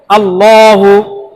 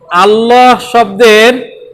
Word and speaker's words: আল্লাহ: দ্বিতীয় লামের আগের অক্ষরে যদি জবর বা পেশ থাকে তাহলে আমাদের মোটা করে পড়তে হবে।